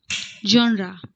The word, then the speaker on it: genre: Its correct pronunciation is genre.